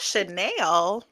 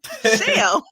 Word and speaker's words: Michelle: Not Chanel. Pronounce it for me. Shell.